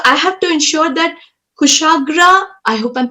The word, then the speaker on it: Kushagra: So I have to ensure that Kushagra, I hope I'm pronouncing your name correctly.